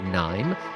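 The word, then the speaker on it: KNIME: the founder and CEO of a company called Nim that's spelled KN n i m e e and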